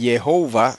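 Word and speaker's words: Jehovah: Gordon enfatiza mucho que el nombre Jehová son tres sílabas y así lo dice él Jehová tres sílabas no como dice en español Jehová en español Está peor todavía por lo menos en inglés dicen jehova que está mejor según él no Bueno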